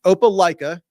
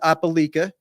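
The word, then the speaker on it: Opelika: a Georgia fan who corrected me on the pronunciation I was using the other day it is opala not aala opaa opaa Alabama and their logo is a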